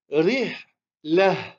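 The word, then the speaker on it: رحلة: On va la prononcer comme un hé. Et on va dire rih la.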